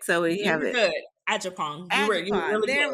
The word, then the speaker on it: Agyapong: Agyapong. You say it real quick so we have it. Good. Agyapong.